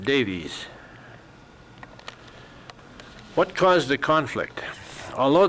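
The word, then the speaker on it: Daviess: Finally, they accepted a compromise to move instead into 2 new and sparsely settled counties to the north, Caldwell and Davis, pronounced Davies.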